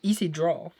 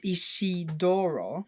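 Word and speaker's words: Isidro: how you say it it's not easy draw it's ishidoro hmm interesting I will forget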